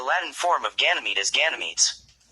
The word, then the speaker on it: Ganymede: form of Ganymede is Ganymedes. In English, the final E is silent, perhaps under the influence of French, unlike later names taken from Latin and Greek.